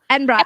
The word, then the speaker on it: Edinburgh: basically last year so i love how americans say edinburgh it's called edinburgh so there's a place called edinburgh i'm sorry sorry edinburgh enbra i'm so sorry you